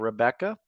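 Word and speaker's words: Rebekah: We have Rebecca, spelled with a K, but pronounced the same.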